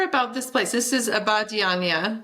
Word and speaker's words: Abadiânia: This is Abadiânia, right, in Brazil. Did I pronounce that right? Close. Abadiânia. Abadiânia. I can't say it. Perfect. Perfect. This is my American pronunciation.